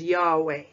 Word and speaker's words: Yahweh: you'd hey valve hey which in English is y h v h which is pronounced as Yahweh for example in the introduction part two we studied Isaiah 42 verse 8.